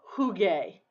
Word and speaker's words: jugué: Yo jugué. That's one of those spelling changes. To preserve the hard G sound, jugué, we have to put a U there.